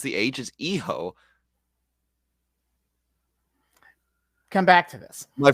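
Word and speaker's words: hijo: of havoc he gave them he told him he ho day havoc which is technically still accurate but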